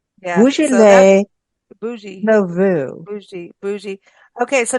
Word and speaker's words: Beaujolais: No, it's Beaujolais Nouveau. It's bougie. Well, depends on whether you're French or not. Yeah, so that's Beaujolais bougie.